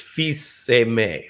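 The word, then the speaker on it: Fils-Aimé: mike little side note my last name is felzemay in french it's fiseime feast is son emme means beloved like amor in italian the same same root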